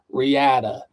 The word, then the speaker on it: Reata: And if you're from Utah, like Ty Evans, you would pronounce it Riata, but we pronounce it Riata, more like Spanish sounding.